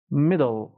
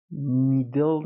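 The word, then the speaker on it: model: شنیده میشه تلفظ میشه مدل مدل میدل نمیگم آخرشم دل نیست دل شست ببینیم مدل مدل خب لغت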